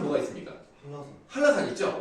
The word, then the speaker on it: 한라산: 한라산. 한라산 있죠? 원래 한라산 한자로 쓰면 뭔지 알아요? 한나산이에요. 한라산. 한나산인데 한나라고 발음하기가 좀 불편하니까 할라피뇨 이런 느낌으로 가는 거죠. 그래서 한라산 부드러운 느낌으로 가잖아요.